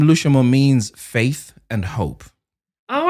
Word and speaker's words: Lushomo: It's literally just three syllables. Lushomo. And that is L-U-S-H-O. M-O, Lushomo.